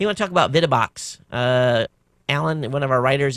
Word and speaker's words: VidaBox: VidaBox, pronounced VidaBox, is a high-end computer entertainment manufacturer, and this is a whole house solution for those of you who want the best.